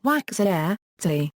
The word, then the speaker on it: waks'ahe:ts'i: Sounds almost like the A of hat. TS before I in this language often sounds like CH to English-speaking ears. I has the continental value, like the one in English machine.